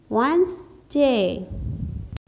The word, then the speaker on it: Wednesday: W has a sound V. E has a sound A. D has a sound D, but it is silent here. N has a sound N. E has a sound A. S has a sound S. G has a sound D. And AY makes a sound A. Wednesday.